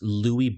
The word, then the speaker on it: Lewy: had I believe it was called uh or pronounced Lewy Body syndrome l-e-w-y so what it is it's